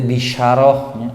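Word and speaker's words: بِشَارَة: Nah nanti disebut nanti bisyarah, bisyarah itu kabar gembira. Kalau dibacanya basyarah itu artinya gelis.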